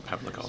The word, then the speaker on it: Pavlikov: Yeah, I must admit it was only about 6 months ago that I learned that quite often in Eastern European names the W is pronounced as a V. So Pavlikov.